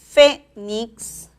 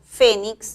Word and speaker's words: Fénix: ortográfico por ejemplo la palabra Fénix Fénix lleva la mayor fuerza de voz en la primera sílaba y tiene que tildarse